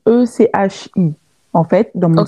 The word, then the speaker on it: Echi: marque, en fait, si tu veux, c'est le nom de mon arrière-grand-mère qui s'appelait Echi. Ok, Donc, par contre, ça s'écrit pas pareil. Ça s'écrit E-C-H-I.